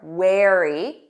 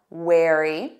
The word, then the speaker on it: wary: Notice that pronunciation, air, wear, wary. Repeat that, wary.